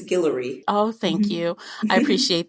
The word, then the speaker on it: Guillory: Did I pronounce her last name right? I know you know. Right. I believe it's Guillory.